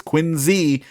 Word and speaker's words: Quincy: worked at State Street Bank in uh North Quincy Massachusetts now I know if you're from up there you say it's quiny uh which is how they pronounce it there but that meant riding the